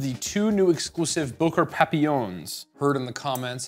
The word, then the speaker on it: Papillon: two new exclusive Booker papillons heard in the comments how to pronounce the word it's it's French and it's Papillon apparently it means butterfly which I think is